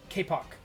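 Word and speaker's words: kapok: appear to be uh kpo Spirits give me just a moment here I'm going to make sure I'm pronouncing that right Kpop Spirits k kic k a p p o k BTS these are a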